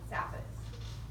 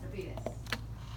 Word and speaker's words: saphenous: And these are called the small and great or lesser and great saphenous or saphenous, how you want to pronounce them.